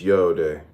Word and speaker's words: yod: Yod pronounced yode, transcribed as I, Y, the number 10, meaning creative hand, the intelligence of will.